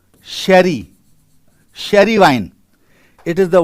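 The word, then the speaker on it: Jerez: R E Z but it is pronounced as Sherry.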